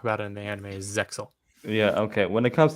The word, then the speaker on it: Zexal: that word exes yeah because it's z-e-x-e-l it's excellent and they even talk about it in the anime Zexal yeah okay when it